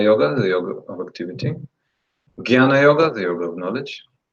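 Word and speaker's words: jñāna: Jnana, jnana you can say, but jnana is like, our school is Bengali, so we say jnana because they pronounce like this.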